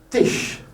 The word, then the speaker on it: Tisch: Tisch, le Tisch. Ça, c'est le SCH, c'est une caractéristique allemande.